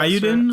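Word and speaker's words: Eiyuden: How's that pronounced? That's Suikoden spiritual successor. Iodine. Yeah, I know which one you mean. Iodine Chronicles.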